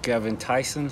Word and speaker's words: Gerben Thijssen: day exra Channel and today I'm sitting with gin Tyson how do you pronounce it correctly that was uh actually correct